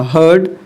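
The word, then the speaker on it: heard: देखिए बच्चे आपको बच्चे बहुत प्रोनाउंस में मिस्टेक करते हैं इसको। इसको हियर्ड ही पढ़ देते हैं। लेकिन एक्चुअल में ये हियर्ड नहीं होगा। हर्ड होगा। हर्ड हर्ड।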